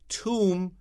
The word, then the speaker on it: tomb: 这个发音蛮特别的 O is 那个长双 O like moon and MB 不是b it is tomb 不是 tomb.